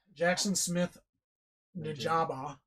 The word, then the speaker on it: Jaxon Smith-Njigba: Yeah, so Jaxon Smith-Njigba, I think that's how you say it.